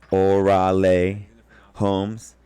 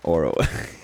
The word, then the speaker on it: Orale Homes: off my name is orale homes uh it's it's pronounced orale homes from up for the white homies I got y'all bro orally um it's not oral please it's not Oro it's not all right